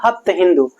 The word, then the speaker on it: हप्त हिंदू: Persian लोगों ने कहा हप्त हिंदू क्योंकि जो परर्शियन लैंग्वेज में उसमें स का उच्चारण ह होता है तो सप्तसिंधु क्या बन गया हप्त हिंदू और ये वाला इलाका